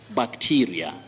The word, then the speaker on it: bacteria: Bacteria. In Kiswahili, you may talk of bacteria. But in English, that E takes the long vowel sound E.